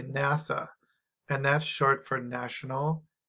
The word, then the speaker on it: NASA: of other words and pronounced as a new word so nasa we say nasa and that's short for